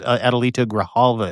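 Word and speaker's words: Adelita Grijalva: Adalita Graalva is how you say her name.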